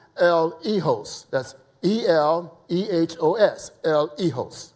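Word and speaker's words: eleos: mercy uh uh according to Strong's is uh pronounced El egos that's e-l-e-h-o-s El Hijos right and that means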